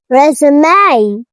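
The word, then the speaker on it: résumé: Resume. Resumeé. This word is very special because it has an e at the end and it's pronounced. It's not silent.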